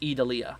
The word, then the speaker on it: Idalia: how they vent there um let's see it's pronounced edalia gotcha gotcha gotcha uh let's see here also